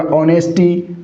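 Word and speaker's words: honesty: इसके अंदर हो जाएगा ऑनेस्टी। मैंने क्या बोला, ऑनेस्टी। ये एच हमारा यहाँ पर क्या है साथियों, ये एच हमारा साइलेंट है, ऑनेस्टी हो गया।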